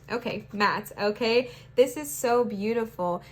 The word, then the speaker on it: Ma'at: It's pronounced Matt. Okay, Matt.